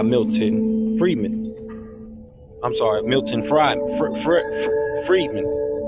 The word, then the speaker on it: Friedman: Friedman I'm sorry Milton Friedman Friedman really fried Friedman fredman I've never pronounced that don't say Freeman but you can say it like that which retains neoclassical